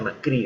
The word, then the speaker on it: Macri: las cuales fue macri o macri sería se pronuncia macri Debería ser bien gravitar con detractores con sostenedores